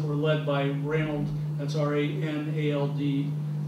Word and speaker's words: Ranald: led by Ranald, that's R-A-N-A-L-D. People pronounce it Ronald, but it's actually Ranald.